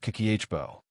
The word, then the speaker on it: Kakeibo: Habit number one, Kakeibo, the art of saving with intention. The first habit is called Kakeibo, pronounced Kakeh-bo.